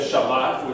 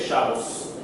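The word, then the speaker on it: שבת: Instead of Shabbat, which is the proper way of saying it in Hebrew, they say Shabbos. And they put the emphasis at the beginning, like a European language, rather than at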